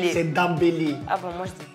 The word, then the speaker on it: Dembélé: C'est Dembélé. Ah bon, moi, je dis Dembélé.